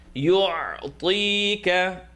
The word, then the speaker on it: يُعْطِيكَ: Now this is ta, second part of the tongue, tap 2 teeth, ta, ta, e, ti, ka. Avoid saying tika, ti, don't open your mouth.